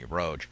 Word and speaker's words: Roage: He basically looked at the pronunciation of Roger and thought it should be Roger. So then he started calling me Roage. When I started looking at Roage and spelled it with the A so that it would be pronounced correctly, I didn't know what it meant.